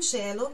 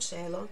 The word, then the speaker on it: cielo: Ad un cielo che promette neve.